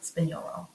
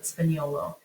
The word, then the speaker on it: Spagnolo: the difference it's it's the GN the Italian GN the G is kind of Silent like lasagna sp sp it say like the end kind of rolls over into the spinolo um but yeah and